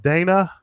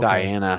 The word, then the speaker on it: Diana: saying something uh uh is that Dana is the H silent or Diana oh Diana okay I'm sorry I said your name wrong it's definitely hard to